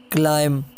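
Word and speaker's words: climb: और इसी तरह जब बी एम के बाद आए तब भी बी साइलेंट रहता है, जैसे तम, क्लाइम, कॉम, डम, बॉम, लैम, प्लमर।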